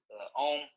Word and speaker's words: Om: We're going to do one final breathing exercise, and this is the Om. Om is actually in 3 syllables. So it's Ah, U, and then So we're going to